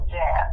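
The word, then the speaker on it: Jas: Lord gave me the name Jazz, because the J-A-S, Allison Salon too, and pronounce it Jazz, because it's kind of more masculine for men.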